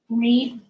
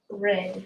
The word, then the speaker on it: read: start on when she read books under not read but red there you go sorry